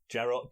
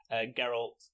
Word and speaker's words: Geralt: was Henry Cavill as Gerald gap general and I said it wrong then Gerald geralt Riviera or Rivia I